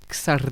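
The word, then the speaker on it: Csárdás: mais c'est Xarda Xardas.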